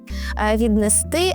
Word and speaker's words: віднести: Вам треба запам'ятати, що коли ви додаєте префікс до двокодового дієслова, то наголос буде в будь-якому випадку падати на останній склад. Віднести, а не віднести.